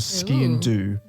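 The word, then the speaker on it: sgian-dubh: It's called a ski and do, and the do is spelled D-U-B-H. Ski and do.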